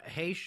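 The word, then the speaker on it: Heche: headlines sad one uh anne heck uh hash i think is how you say her name um uh the television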